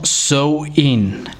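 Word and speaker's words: Samhain: llamaba samhein o sea se escribe san jaime s a hay n pero se pronunciaba como show in y aún hoy en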